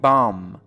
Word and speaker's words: bomb: دقت کنید در اینجا کلمه bomb توی زبان فارسی میگیم بمب، اون به آخر تلفظ میشه، ولی در زبان انگلیسی میگیم bomb بی تلفظ نمیشه.